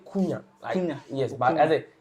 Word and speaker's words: Cunha: The H is silent. So you can say Kunya.